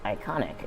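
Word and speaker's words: Eikon: iconic so he says you had it right the first time it's pronounced like iconic in Final Fantasy 14 Garian uses the term icon for primals got it okay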